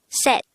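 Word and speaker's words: 셋: is number three the native korean version of number three is set pronounce it with me set if you would notice set is spelled with a seat character at the third position but take note that this is pronounced with a t sound first we need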